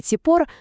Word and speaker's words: צִפּוֹר: Ціпор. Вимовляється як ціпор.